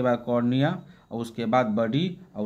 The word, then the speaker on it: cornua: को कहते हैं कॉर्निया, इसको कॉर्निया ही बोलेंगे। कॉर्निया तो एक और आँख में पाया जाता है, वो उसका नहीं, उसका स्पेलिंग EA होता है, इसमें होता है CORNUA।